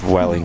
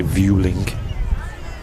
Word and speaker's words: Vueling: another nice livery dwelling pronounced dwelling i know some people say viewlink i had to look it up just to check it looks like swelling um yeah even in spanish they pronounce a welling as well yeah i originally call